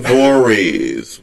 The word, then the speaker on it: Voorhees: So 2 people are running from Jason Voorhees. Which person Is that how you pronounce it?